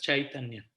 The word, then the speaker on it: Chaitanya: En sánscrito la C se pronuncia como una CH, pero es Chaitanya.